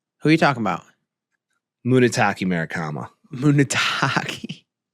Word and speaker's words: Munetaka: It's Munetake Murakami. You got to learn how to say it.